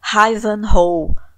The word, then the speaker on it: Ivanhoe: É a Rebecca do clássico romance histórico de Walter Scott, Ivanhoe, ou Ivanhoe, que é como se escreve.